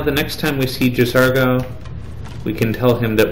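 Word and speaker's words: J'zargo: Occasionally, you might hear me mispronouncing it as Jazago because this is actually the first time that I've noticed that uh for a long time I was just misspelling uh or misreading his name.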